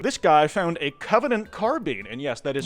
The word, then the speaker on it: carbine: This guy found a Covenant carbine, and yes, that is how you pronounce that word.